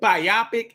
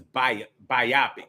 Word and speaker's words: biopic: Is it biopic? I thought it was biopic when they make a movie about a person's life, but I've heard it pronounced recently biopic. I'm like, bio picture? I'm like, biopic sounds better to me. But maybe that's just the English way of saying it.